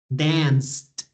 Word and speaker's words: danced: ends in e but when you pronounce it dance the last sound that you that you're actually pronouncing is the S sound so in that case the pronunciation is with t dance danced explosive okay remember to